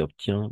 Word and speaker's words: obtient: qui obtient de très bons résultats, qui obtient de très bons résultats. Y en este caso, si solamente en estos casos, vamos a pronunciar entre la fin.